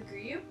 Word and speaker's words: Griobh: So I named him after the Irish pronunciation of Griffin, which is Griobh.